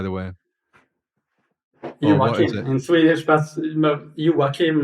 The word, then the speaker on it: Joakim: Joim, is it Jokim or Yokim, by the way? in Swedish. But yim is the Swedish pronunciation.